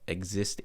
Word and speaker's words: Xyst: Um if you want to go see my uh DJ agency page, it's Exist Agency but it's spelled XYST and then agency.